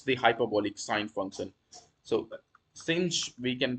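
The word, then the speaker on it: sinh: So cinch we can pronunciate it as cinch of x = e to the x - e to the minus x / 2.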